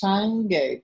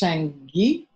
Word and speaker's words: Sangye: So we start with the Tibetan term for the word Buddha, and that is Sangye, 2 syllables, Sang, S-A-N-G, and the second syllable is Ge. Sometimes pronounced Sangye or Sangye, G-Y-E.